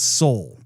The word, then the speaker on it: Seoul: not been pronouncing that that name correctly its soul I thought I was mispronouncing it well the last time I said